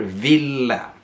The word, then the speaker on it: ville: to do it together Villa you have a double either a little bit short Villa make sure you pronounce the e at the end so the person you're